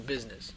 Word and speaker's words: business: get back to business why do you pronounce it like that cuz there's AB you in there okay nobody pronounces the UN business I don't know why